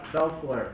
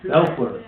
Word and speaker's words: Bellafleur: Belfleur, yeah. Belfleur. Yeah, rhymes with tell her.